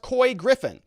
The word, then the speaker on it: Couy Griffin: is here says uh it's pronounced coy griffin i'm from new mexico